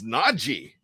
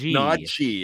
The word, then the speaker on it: Najee: That's how he wants it pronounced, not Najee. He wants it Najee. It's not Najee. It's not a Z sound in there.